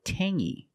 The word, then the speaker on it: tangy: Or this word, tangy. We have the same sound. It's the nasal sound only. Tangy. Tangy. It's not tangy, it's tangy.